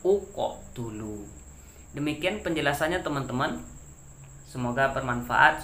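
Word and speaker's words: اقتلوا: Caranya adalah uqotulu, karena huruf ketiganya adalah huruf ta yang berbaris dhammah. Jadi barisnya yang menjadi patokannya. Kalau dia dhammah, berilah baris dhammah. Jadi bacanya uqotulu.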